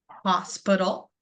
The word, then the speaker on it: hospital: So in the word hospital, I can hear my stress syllable, which is that hospital hospital. And then when I need to find my schwa sound, I know that it isn't in my beginning. So hospital bull, it's that very ending because I'm saying it very quickly and I'm skipping over it because I'm being lazy with how I speak.